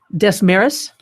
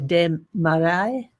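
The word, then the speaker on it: Desmarais: de the all right Des meris but actually that's not how it's pronounced it's probably the de marai building um did that sound French and will be proceeded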